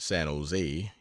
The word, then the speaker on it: San Jose: it bend down to San Jose generally pronounced San Jose emphasis on last syll today 50 mi from